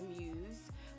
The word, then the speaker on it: Mews: as well as the Mews, which you'll see shortly. The Mews, M-E-W-S, is I believe it's how it's pronounced or spelled.